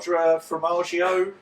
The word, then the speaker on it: Quadrifoglio: Quadrifoglio. Quadrifoglio. The G is silent.